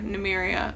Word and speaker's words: Nymeria: wolf was cool too she's actually named after new mariya of run our okay that's how it's pronounced do not come for